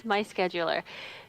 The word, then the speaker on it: MySchedulr: I wanted to pronounce it different because schedule's spelt wrong, but it is MySchedulr.